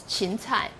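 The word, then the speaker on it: 芹菜: A salary, the Chinese pronunciation is qin cai, and this qin is homophone with the character meaning diligent, to learn diligently, to study diligently.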